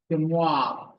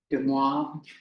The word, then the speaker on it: Moivre: Moivre. It's spelled like the Louvre. Louvre. So I think the VRE is kind of, the RE is silent, like Louvre does, you don't hear RE. Moivre.